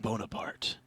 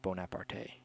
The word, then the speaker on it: Bonaparte: and Bonaparte must make their last two choices. Bonaparte. No. That's not how you say it. There's no accent on the E.